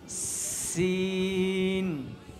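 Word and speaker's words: سين: বলে একটু আওয়াজ হবে, এরপর হরফটা হলো 3 মাথাওয়ালা, এটার নাম কি বলা, এটাও শক্ত করে উচ্চারণ করতে হবে, সিন। তাহলে সিনের উচ্চারণও শক্ত হবে।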